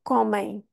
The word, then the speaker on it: comem: boca e pelo nariz também então vamos ter comem e este som na verdade não acaba notem